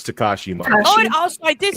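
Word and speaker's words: Takashi Miike: No, it's it's Tekashi Mike.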